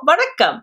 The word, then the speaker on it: வணக்கம்: first by saying, Hello, Vanakkam. So you guys already know the word. Let's quickly review how to pronounce Vanakkam. Va-nak-kam, vanakkam, va-nak-kam, vanakkam. So, vanakkam.